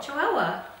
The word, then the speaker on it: Chihuahua: and Chihuahua she's from Chihuahua Chihuahua is that how you say it Chihuahua like the dog yeah yeah W yeah wow